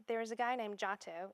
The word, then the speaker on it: Giotto: was a guy named Otto it's spelled GI TT o or GI o TT o it's not spelled at all like you would think so if you see